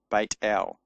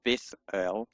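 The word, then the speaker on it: בית אל: They're both pronounced in modern Hebrew as a t sound, not as a th sound.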